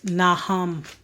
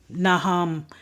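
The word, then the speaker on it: Nahum: Micah the next book of the Bible is naham naham n a h u m the next book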